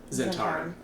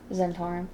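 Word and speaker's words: Zhentarim: Zentarum. Zentarum.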